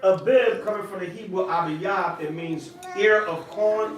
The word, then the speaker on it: Abib: Abib, Abiyab. All right? A-B, I can spell it.